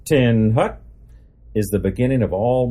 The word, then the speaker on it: attention: teach and reinforce submission of the will attention pronounced 10 Hut is the beginning of all military Maneuvers just